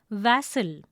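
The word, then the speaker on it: vassal: Now the first word is vassel. It is a noun. The pronunciation is vassel. It has two syllables. The important information for you here is the sound in va is similar to van.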